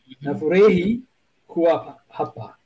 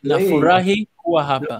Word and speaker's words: Nafurahi kuwa hapa: Nafurahi kuwa hapa. Yes. Nafurahi kuwa hapa. Nafurahi kuwa hapa. Actually, somebody told me you pronounce it as you see it. Is that right? Yes, no, exactly. It's phonetic.